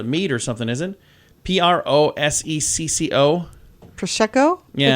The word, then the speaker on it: prosecco: cheese or a meat or something isn't it p-r-o-s-e-c-c-o prosecco yeah it's a wine is it i